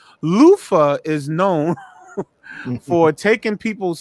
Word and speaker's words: Luther: Luther Vandross is known as Lufa. Let me say it correctly. Lufa is known for taking people's songs and making them his own.